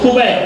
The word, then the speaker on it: خبیب: ٹھیک ہے, اس کو خبیب پڑھیں گے. ٹھیک ہے, جواب آپ کا صحیح ہے, بس صرف تلفظ میں فرق ہے تھوڑا سا.